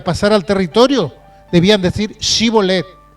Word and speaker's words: shibolet: que eran de lugar, podían pronunciar sin problemas la palabra shibolet, refiriéndose a un manojo de espigas. Pero los que no, los que no eran de allí, ellos no podían decir shibolet, ellos decían cibolet.